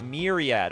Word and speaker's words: Myriad: Okay, it's pronounced Myriad. Oh, I was doing it right in the first place. It doesn't sound right. Myriad?